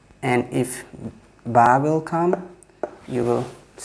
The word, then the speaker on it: ba: Alif, Ba, like your upper lip will connect to the soft part of the bottom lip. Ba, very easy to pronounce.